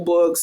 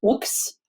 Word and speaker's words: Boox: I think it's pronounced books, honestly.